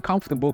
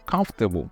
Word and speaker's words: comfortable: I get dressed in comfortable clothes for the day. Alors, ce mot, je l'ai prononcé comfortable. Ce n'est pas comfortable. Apprenez à prononcer comme des natifs. Comfortable.